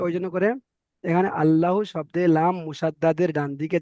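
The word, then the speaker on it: الله: আল্লাহ শব্দে লাম মুসাদ্দাদের ডান দিকের অক্ষরে জাবার এসেছে, তাই আল্লাহর লামকে, এই লামটাকে নয়, এই লামটা হবে না, আল্লাহর লামকে পুর অর্থাৎ ল পড়তে হবে।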